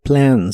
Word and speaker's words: something: beber hablando de líquidos la o de something se pronuncia como a la e no se pronuncia y la th se